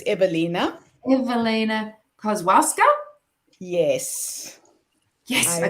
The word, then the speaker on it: Ewelina: Yes, so she's Polish and the W is spelled as a V, so it's Ewelina.